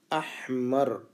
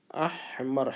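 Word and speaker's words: أحمر: احمر. احمر ہا کی آواز کو حلق سے نکالنا ہے.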